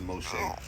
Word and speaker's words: Moshe: Yeah, I think the Hebrew pronunciation of Moses is Moshe. Moshe.